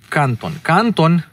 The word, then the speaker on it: Canton: Canton, with the accent on the first A, actually on the only A, as it is in